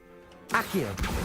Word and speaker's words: Accio: Accio, that's how it's pronounced.